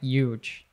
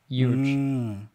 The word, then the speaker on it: huge: I would say huge, but my dad's from New York, and he says, he almost says it like there's a Y there, like huge, huge.